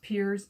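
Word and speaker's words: Pears: i believe it's pronounced piers even though it looks like it should be pronounced pairs this is a glycerol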